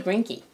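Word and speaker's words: Greinke: I got today was how do you say grinkie and it's not gry gr gry grank grank how do you say that gr gry from what we understand it's grank right right so that's this Fan's question and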